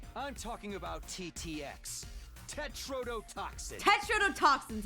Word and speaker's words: tetrodotoxin: Tetrodotoxin's how it's pronounced.